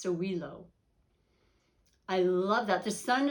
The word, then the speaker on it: Sowilo: is sun wholeness oh it's pronounced sowilo i love that the